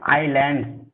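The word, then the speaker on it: island: ये जो लिखा है देखिए, आइलैंड, इसको एस का साइलेंट हो जाता है, आइलैंड बोलते हैं, आइलैंड, और बहुवचन में है तो आइलैंड्स हो गया।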